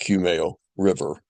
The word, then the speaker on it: Kumeu River: Chardonnet from New Zealand from a winery called Cumo River. It's Cumo is spelled K U M E U Cumo. It's pronounced Cumo River and it's the Cumo River Vage Chardonnay from uh uh New Zealand.